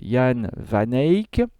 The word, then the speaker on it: Jan van Eyck: van eyck mais bon il vaut mieux prononcé à la locale jan vanek qui s'était spécialisé dans